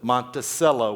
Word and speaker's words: Monticello: Monticello, we call it. Monticello, not cello. Monticello is Thomas Jefferson's pronunciation.